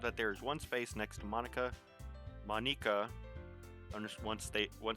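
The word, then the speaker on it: Monika: ] it your name's monica amina how you pronounce it it's monica monica it's delicious sayori uh talks with her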